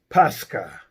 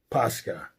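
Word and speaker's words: Πάσχα: And on the flip side, in the Greek, which is New Testament, it's Pascha. Pascha.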